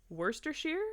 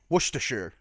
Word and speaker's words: Worcestershire: over this when we can literally just okay werster sure it was Worcestershire so I was actually also pronouncing it correctly is Worcestershire so it's a